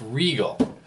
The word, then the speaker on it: Rigol: riol oh Regal I actually know it's called pronounced Regal a Regal ds1052e common good scope um basically you know